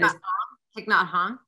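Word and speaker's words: Thích Nhất Hạnh: I love, and I say his name wrong, but the beautiful Vietnamese Buddhist, meditation yogi, that he recently died, Thich Nhat Hanh. I forget. Thich Nhat Hanh.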